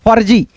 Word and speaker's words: फर्जी: जैसे फ आधा र ज में बड़ी ई की मात्रा फर्जी ऐसे निर्झर निर्झर झ